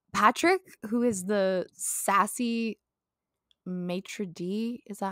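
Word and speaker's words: maître d': franchise we have Patrick who is the sassy matri d is ah how it's pronounced.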